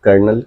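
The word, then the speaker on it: colonel: कर्नल जिसको pronunciation कर्नल किया जाता है। इसमें एल साइलेंट होगा। साइलेंट लेटर्स होते हैं और इसको कर्नल ही बोला जाता है।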